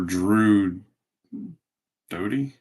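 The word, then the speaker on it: Doughty: Wings here's a silver Drew doie is how you pronounce for the Kings cam talot wild Drew Dodie Kings Joel FY Flyers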